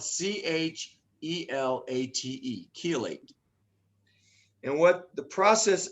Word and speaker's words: chelate: it's more of a nutritional medical term it's chelate and it's spelled c-h-e-l-a-t-e chelate and what the process a chelate process